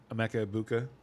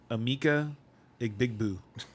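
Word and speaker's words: Emeka Egbuka: So, uh, Grank wanted to praise Amecha Ibuka um, last week and he pronounced his name Ama Bigbu.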